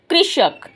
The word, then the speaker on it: कृषक: क को ऋ कृ श क कृ कृ श क कृषक।